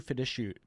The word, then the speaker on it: fiduciary: So you might be challenged to be a true fiduciary. What'd you say? How do you say that? Fiduciary.